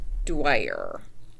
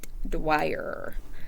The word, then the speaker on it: Dwyer: I think that's pronounced Dwyer. Okay, like Dwyer.